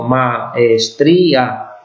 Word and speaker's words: maestría: No es maes, sino maestría, ¿vale? Son 4 sílabas esto.